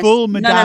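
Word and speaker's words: ful medames: Um, speaking of fava beans, Mona, tell me about uh full madames. Um, I don't know if I'm pronouncing that correctly. Madame. Yes. Full madame.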